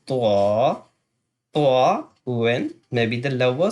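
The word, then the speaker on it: ط: When you touch the tip of your tongue Then you can pronounce twa, twa when maybe the lower side of the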